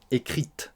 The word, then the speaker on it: écrite: placée avant le verbe la lettre que j'ai écrite on prononcera le T donc attention si vous